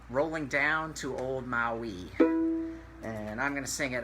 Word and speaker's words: Maui: ruling down to ol Maui so Maui Maui is actually ma UI Maui the island in Hawaii but it's pronounced Maui in this song so it's a damn